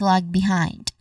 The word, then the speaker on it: lag behind: Stress is on the second syllable of behind which is hind. Again this is lag behind.